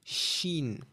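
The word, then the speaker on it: شين: Then we have sheen. Okay? Okay. So, it's a sh sound. Sheen, which is a scene with three dots on top.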